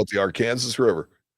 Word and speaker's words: Arkansas: Sir, that's pronounced Arkansas. Just want to clarify.